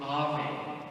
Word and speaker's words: Ave: And Mary, when she's greeted by the angel, is greeted with Ave, A-V-E. And the Latins were just, again, wowed and floored by the idea that the Ave was the reversal of Eve.